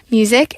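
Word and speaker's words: Musiq: he got his name, Music. And it's spelled with a Q, so it's like music, but he's twisted it to be his own.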